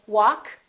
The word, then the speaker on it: walk: adjust adjective all right silent l we don't say walk and talk we say walk talk could would should silent l